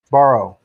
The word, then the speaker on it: Barrow: Spell that, please. Yeah, good luck. I think it's B-A-R-R-O-W. V-A? B-A, Barrow. B-A-R-R-O-W. Borrow.